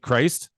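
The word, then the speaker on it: Crist: Jake Christ.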